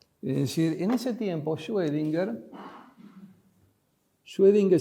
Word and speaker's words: Schrödinger: decir en ese tiempo schwedinger se escribe Así es una o con una diéresis que suena como oe en alemán en el año